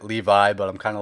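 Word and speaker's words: Leavitt: up we have Jordan leave it versus Victor Martinez so my pick for this one's gonna be Jordan leave it I know you technically pronounce it Levi but I'm kind of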